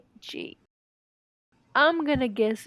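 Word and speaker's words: Trøndelag: It's spelled Trondelag. I'm gonna guess it's Trondelag. Trondelag. That sounds right, right? Trondelag. Trondelag is how you say it, I believe.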